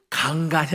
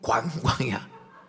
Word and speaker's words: 관광: 노는 시간에 상화야, 강간이 아니고 관광이야. 이 경상도 사람이 관자 발음을 못해.